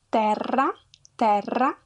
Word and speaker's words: terra: The E is open in some words, such as terra.